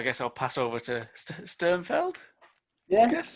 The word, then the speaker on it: Sternfeld: I guess I'll pass over to Sternfeld. Yeah. I guess. There's no I there, is there? There's no field. It's Feld.